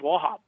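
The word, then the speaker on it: Wauchope: really weird it's spelled w-a-u-c-h-o-p-e but how it's pronounced as wahab wobb's plantation right so i don't know how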